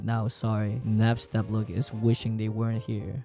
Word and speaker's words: Napstablook: It's pronounced Napstablook.